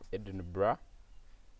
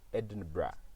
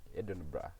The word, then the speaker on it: Edinburgh: masters in computer science at the University of Edinburgh uh in the United Kingdom. Most people pronounce it as University of Edinburg. No, it's not Edinburg. It's Edinburgh. Edinburgh.